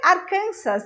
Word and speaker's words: Arkansas: hear they say what's that arkansas arkansas jose arkansas but for some reason i cannot explain in english what you hear is arkansas that's the correct pronunciation for this word talking about arkansas i just remember kansas kansas sound of z